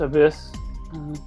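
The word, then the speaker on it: ABIS: be all for now abyss pronounced abyss advanced brain investigation squad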